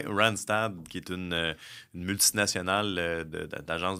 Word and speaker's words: Randstad: Pour, je le prononce bien, Randstad? Oui, Randstad, qui est une multinationale d'agence de placement.